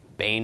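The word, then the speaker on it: בן: by the end of the nun Bane okay Bane as the pronunciation of this word and Bane is a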